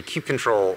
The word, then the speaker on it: kubectl: Users interact with Kubernetes just through the API server, either through kubectl or, and that's the canonical pronunciation, by the way.